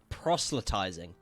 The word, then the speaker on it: proselytizing: So, this word right here, proselytizing, that's how it's pronounced.